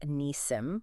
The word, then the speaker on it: Nissim: And Nissim is Nissim. Long knee, short sim, like SIM card.